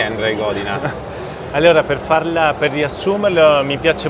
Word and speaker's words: Andrej Godina: Piccola introduzione, Andrei Godina, ho pronunciato giusto?